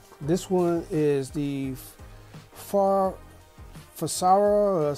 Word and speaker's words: Frsara: All right, this one is the Farsara, spelled F-R-S-A-R-A, it's spelled F-R-Sara, you know, well, it's like Sarah or whatever it is.